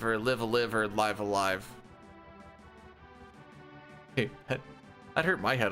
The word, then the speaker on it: Live A Live: I have never done Live Alive or Live a Live or Live a Live or Live Alive.